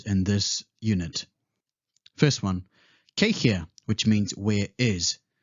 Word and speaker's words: kei hea: which means where is in some regions you'd pronounce the w so you would say k fear instead depending on your location you should adapt to the local dialect next upoko which means